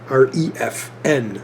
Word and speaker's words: Refn: It's R-E-F-N.